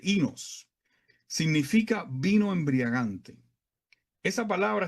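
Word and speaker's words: οἶνος: El término aquí en griego, algo así como ino, pero se pronuncia realmente inos.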